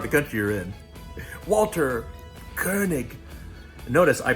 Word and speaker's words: Koenig: people pronounce it uh Koenig they say Walter Koenig so they pronounce it incorrectly the correct way that you would pronounce it in Germany is kernig and it means king